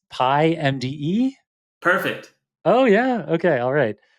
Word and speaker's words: PyMDE: You're gonna have to tell me how people pronounce this, but it's PyMDE? Perfect. Oh, yeah, okay, alright. So it's PY and then the letters M, D, and E.